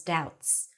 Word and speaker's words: doubts: The odd thing was that Hermione's support made him feel just as confused as Ron's doubts. No B. Doubts, doubts, doubts.